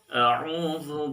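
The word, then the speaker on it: أعوذ: Biasanya orang bacanya a'u, hamzah dua-duanya ya. A'u atau ain dua-duanya. A'u, a'u. Padahal kita tahu bahwa makhraj alif atau hamzah dengan ain itu berbeda. Sehingga cara bacanya harus jelas mana makhraj hamzah atau mana makhraj ain. Jadi cara baca yang betul adalah a'u baru masuk ke makhraj ain.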